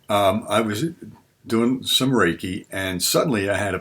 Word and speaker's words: reiki: go into another point reiki again i mentioned before r e i k i r e is a syllable that means that's pronounced like the name rey like a man's name r-a-y but rei means universal